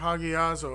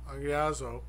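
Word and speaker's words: ἁγιάζω: And that is, once again, and we discuss this word agiazo, or hagiazo, however you want to pronounce it, because the H is silent, and it's A-G-I-D-Z-O, agiazo.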